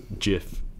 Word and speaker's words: GIF: is debate I'm shocked the developers of the GIF at computer confuserve in the uh in the 1980s said it was Jif as if as in a J in the pronunciation but others argue soft G is more common and acceptable so and others claim that the hard G is closer to the meaning of graphics so uh there's I